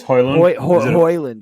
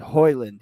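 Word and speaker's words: Højlund: I think it's Hoyland. Hoyland. Yeah, Hoyland.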